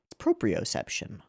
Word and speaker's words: proprioception: match I'm actually I'm gonna look up the pronunciation of proprioception sounds like it should be proprio it's proprio proprioception proprioception proprioception proprioception also referred to as kinesthesia